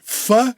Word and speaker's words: PHA: I'm gonna pronounce that Fu, even though it's PHA 979.